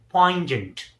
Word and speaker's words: pungent: So, once again, pronounce it correctly, say pungent.